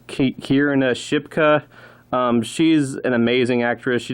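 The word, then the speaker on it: Kiernan Shipka: The main character is played by, I think you pronounce her name is Kierna Shipka.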